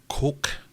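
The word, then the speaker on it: kok: His top brain thing, his nuchal hump is the proper term, I think, colloquially known as his coke, I think is how you properly pronounce it, so it's K-O-K.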